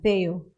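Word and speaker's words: Θεοῦ: Tama ba yung pronunciation ko, Pastor Art? Theou? Yeah, Theou.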